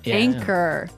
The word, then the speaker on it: anchor: Anchor. Anchor. Anchor. Now, it's spelled A N C H O R. Right? But you don't pronounce the ch as you normally would, right?